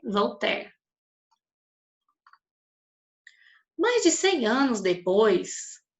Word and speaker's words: Voltaire: Pronuncia-se Voltaire.